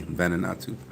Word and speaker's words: Vanuatu: It's an A, Vanuatu.